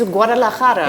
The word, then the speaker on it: Guadalajara: It's Guadalajara. Yeah. Oh, I don't know how to pronounce that, but you do it perfectly.